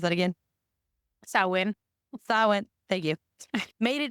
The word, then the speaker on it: Samhain: But anyway, the Celts felt that the ease of spiritual communication during this, how do you pronounce that again? Samhain.